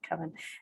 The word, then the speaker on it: coven: of any sort and how that word is pronounced i've just always said kevin and an eclectic witch